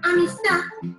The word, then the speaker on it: amistad: Por ejemplo, en la palabra amistad, la sílaba tónica es ta, mientras que las anteriores son las sílabas átonas.